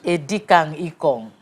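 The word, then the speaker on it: Edikang Ikong: how to pronounce it a decang icon that's the right pronunciation ecom yeah eddie can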